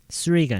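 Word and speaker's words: three: 3가 아니라 3. th 발음 할 수 있어요.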